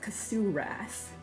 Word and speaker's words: Cthurath: Again, this is for EverQuest 2, Rage of Cthur Wrath. Think of Cthulhu. Um, so that you've got the pronunciation correct.